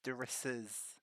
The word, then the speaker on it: Darissa's: There's an S on the end. Darissa's. Yes. Darissa's lament. Like it Yes. belongs to someone called Darissa.